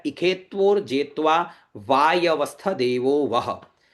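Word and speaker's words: इषे त्वोर्जे त्वा: ये ई शब्द है, ये ख है, षटकोण वाला जो है यहाँ पर, जिसको अपन मूर्धन्य शकार बोलते हैं, इसको यहाँ पर ख का उच्चारण करना है।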